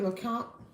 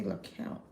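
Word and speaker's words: Lecompte: Are you familiar with Lount? Lount, but it's spelled L. Is it L E C O M T E? But they say L count.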